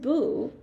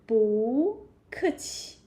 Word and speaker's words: 不: When we learned 不, actually it is falling tone, right? 不, you say like this, very strong. Yeah. 不, like this, falling tone. But 不 is a very special syllable. And when together with another falling tone, So you can say change it to rising tone. We say 不客气, 不客气.